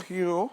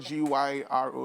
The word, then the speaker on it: gyro: you know yeah uh hero i think that's what it's called um um it's a greek like like a greek shaman basically yeah it's called g-y-r-o it's not pronounced gyro so you have things